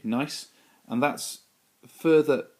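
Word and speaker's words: gneiss: is a rock called nice that's how i pronounce it silent g nice and that's further it's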